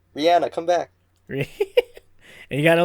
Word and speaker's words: Rihanna: Wait, so Rihanna's in London? Rihanna's in London?